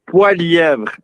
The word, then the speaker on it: Poilievre: It's Poilievre, and there's only in Quebec that we can say it correctly.